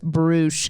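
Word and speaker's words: Bruush: okay so bruce uh it kind of looks like brush it's b-r-u-u-s-h with a cool little accent over one of the u's but it's actually pronounced bruce and so this is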